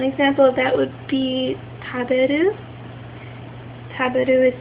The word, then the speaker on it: taberu: So an example of that would be taberu. Taberu is spelled T-A-B-E-R-U and it ends in E-R-U.